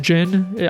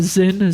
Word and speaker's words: Zin: Fun fact, I just realized in this game that it's pronounced Jin. I used to call him Zin, Z-I-N, because that's how it's spelled.